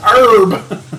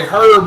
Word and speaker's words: herb: Is there Ya a- herb is pronounced herb. there's a- break that Always, block. And it irks me always when I hear irk- people say herb with the H.